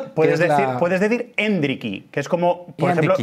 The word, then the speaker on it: Endrick: como yo creo que la forma más natural de llamarle es hendrick que es como se dice su primer nombre Porque é se llama hendrick Felipe su primer nombre es hendrick con acento en la e es la mejor forma